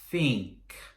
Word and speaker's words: think: Teach, think. Teach, think. That TH sound on think, put your tongue to your teeth and let the air come through. Think.